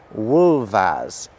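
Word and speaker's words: wulfas: So these are the Old English words for wolf and wolves, and they're pronounced wolf and wolvas. Do you hear how the F is making a very different sound the second time round?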